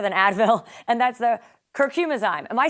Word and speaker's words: Curcumizyme: something that's better than Advil and that's the curcum asme am I saying it right absolutely curcum ayme okay so it's the only natural anti-inflammatory that